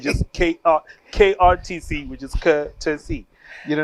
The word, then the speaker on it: KrTC: So when you shorten it, it's just KrTC, which is KrTC. You know what I mean? The R is silent.